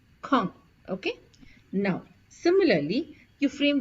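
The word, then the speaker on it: quand: which means Ben now please pay attention to the pronunciation it is K Kong okay now similarly you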